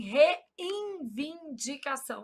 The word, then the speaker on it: reivindicação: A gente nasaliza esse N pronúncia. Se a gente fala assim, reivindicação, aí a gente sai colocando o molde N